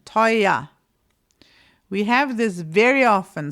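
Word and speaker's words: teuer: But we don't even say this r at all with an r sound. It is an a. And that is complete standard German pronunciation. Toya.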